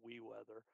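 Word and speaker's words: weewx: the program itself is w-e-e-w-x pronounced we weather it's a free open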